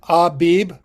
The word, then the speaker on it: Abib: So, there's how you pronounce it. Abib.